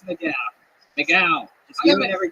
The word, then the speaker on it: McGough: It's McGough.